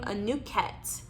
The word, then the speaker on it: Anuket: Okay, and your Egyptian god for the week is, how do we pronounce her name? Anuket. Okay, Anuket for hope.